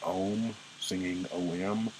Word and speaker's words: Om: Ninth song, it ends, and the final song is singing OM.